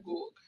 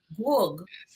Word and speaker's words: Gourgue: So how do you pronounce this one? Gourgue. Gourgue. Gourgue. It does something to your lips. Gourgue.